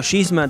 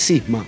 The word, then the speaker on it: Cisma: Bien, ahora lo de la banda, te digo Gisma, te digo Kishma, ¿cuántos nombres te dieron ya de Complicado. Sisma? 1.300 pronunciaciones diferentes. En realidad es Sisma, siempre fue Sisma en castellano, pero bueno, en un